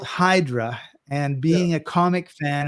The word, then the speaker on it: Hydra: of parara something to the island of idra which is spelled Hydra and being a comic